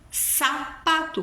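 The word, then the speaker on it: zapato: exemplo a palavra sapato sapato que escreve com Z em espanhol tem som de s Celo Celo céu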